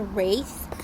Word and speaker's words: Wraith: little bit about the race and I did pronounce that with a th and not a cage